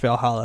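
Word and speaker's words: VA-11 Hall-A: it's called uh valhalla and it's not it's pronounced valhalla is the way the way to um the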